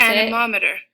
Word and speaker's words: anemometer: so we're gonna go up here we're gonna pronounce anemometer together learn to pronounce slowly anemometer all right